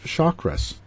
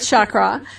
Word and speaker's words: chakra: the sanskrit language and it is a sanskrit word and the word is